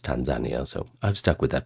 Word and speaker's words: Tanzania: By the way, a Kenyan girl actually told me that Tanzania is pronounced Tanzania, so I've stuck with that pronunciation ever since.